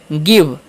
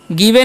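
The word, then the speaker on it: give: आगे लिखा है जी आई वी ई। तो इसे हम क्या पढ़ेंगे? गिव। गिववे नहीं पढ़ना है। ठीक है? आई का उच्चारण यहां पर हर्ष से होगा तो गिव पढ़ेंगे।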